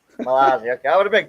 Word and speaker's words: Mazzolli: Oh, sorry, how do you pronounce your last name? Malazzi. Mazzolli. Okay, I would have been close, but I've been called Mazzoli, Malazzi, Malozzi, all the things.